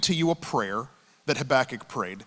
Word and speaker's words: Habakkuk: His name is Habakkuk. Habakkuk. He has many pronunciations, Habakkuk. And this is the one we have settled upon.